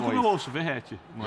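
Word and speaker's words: Vegetti: pronuncio como eu ouço, Verrete, não é? Verrete. Eu e Viela também, mas escute aqui de Pascoal qual a pronúncia argentina é Vegete.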